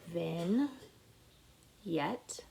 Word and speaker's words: vignette: what is a vignette a vignette pronunciation then yet is a short scene